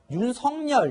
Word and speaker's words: 윤석열: 아, 근데 저희가 이제 윤석열 제가 이렇게 네. 발음을 하고 있는데 이름은 또 본인이 원하는 대로 부르는 게 있어서 윤석열 이렇게 부르는 게 더 좋다는 그게 얘기가 맞습니다.